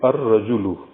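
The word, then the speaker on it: الرَّجُلُ: added before this word, lam of this al is not pronounced. Al is written completely, but lam is not pronounced. Instead, the first letter of the word ra is pronounced twice. We say ar-rajulu.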